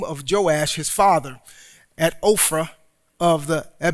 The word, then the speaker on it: Ophrah: Verse 27 says, "And Gideon made an ephod of it and put it in his city, in Ophrah," not Oprah, but Ophrah.